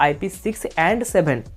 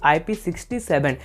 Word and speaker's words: IP67: का सकते या फिर आप इसको आईपी 6 और 7 ऐसे भी का सकते हैं बट आपको यहां पर आईपी 66 ip67 इस तरह से प्रोनाउंस कभी भी नहीं करना चाहिए ये गलत तरीका है इप्राटिंग को प्रोनाउंस करने का या फिर रेटिंग को